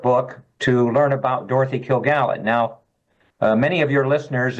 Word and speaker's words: Kilgallen: And a lot of things you probably don't know about the JFK assassination, including Dorothy Killigan.